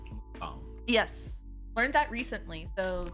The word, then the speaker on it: mukbang: And it is pronounced mukbang.